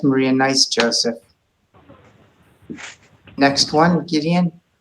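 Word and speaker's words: גדעון: nice Joseph next one Gideon it's it's just VOD then you pronounce the yud like the Y value foreign there you go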